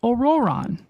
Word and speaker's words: Ororon: pretty far out there that's how you pronounce it aoron that's right so in the sense